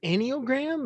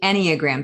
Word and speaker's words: Enneagram: So was it Enneagram? Is that what you said? It's actually Enneagram. So it's Enneagram.